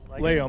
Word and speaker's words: Layham: That's Latham, or Layham. Layham. Not Latham.